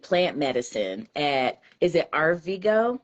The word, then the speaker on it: Arvigo: You found out that you were diagnosed with celiac disease, and then you studied plant medicine at, is it Arvigo?